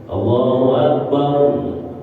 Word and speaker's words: Allahu akbar: enggak berubah tu kadang-kadang Allahu akbar Biar kata kagak enak suaranya kalau bacanya benar tetap sah tapi Biar kata suaranya bagus Biar kata nafasnya panjang kalau Akbarnya dipanjangin salah dan itu salatnya tidak sah ini kesalahan yang enggak